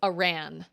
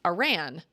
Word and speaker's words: Aran: And I feel like my brother said her name was pronounced Aran, Samus Aran, which sounds better to me, but they pronounced it like Aaron.